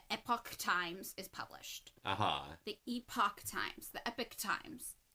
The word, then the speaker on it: Epoch: And this is the year that depending on your pronunciation, the Epoch Times is published. The Epoch Times. The Epoch Times. It's super epic. Epic is just what I default to.